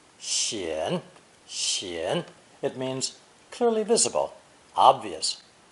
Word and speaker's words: 显: Pronounced third tone, 显.